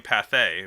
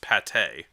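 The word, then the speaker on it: Pathé: which i found out today we've been calling path a but it's pronounced pate right yeah oops um we've definitely been mispronouncing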